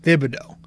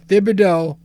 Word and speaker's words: Thibodeau: i finally figured it out so when you pronounce his entire name it is th it's thibido but when you give him the nickname it's